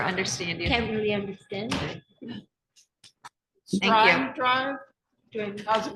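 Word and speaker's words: Streim: Strime Drive, During- how's it pronounced?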